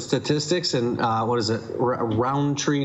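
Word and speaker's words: Rountree: Do you pronounce the D? Yeah. Everyone goes Roundtree. I think it's Roundtree. No. Is it Roundtree? Like I don't know how much you accent the syllables. There's no even D.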